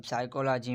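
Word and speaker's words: psychology: देखें, अगर एस से पहले अगर पी आता है तो पी हमारा क्या है, वो हमेशा साइलेंट होगा। जैसे कि हमारा जो पहला वर्ड है वो है साइकोलॉजी। अब साइकोलॉजी में देखें पी का जो साउंड है वो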